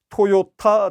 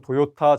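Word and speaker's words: トヨタ: 좀 부연 설명을 드리면, 그 회사 이름은 TOYOTA, 토요타 자동차가 정확한 이제 우리 그 표기가 되었고요. 흔히 얘기하는 그 도요타 자동차의 창업자 가문은 도요다가 맞습니다. 근데 우리나라가 또 발음이 TO를 앞 글자로 나올 경우에는 이제 도로 표기를 하기 때문에 도라고 하는데, 사실은 정확한 표기는 토가 맞고요.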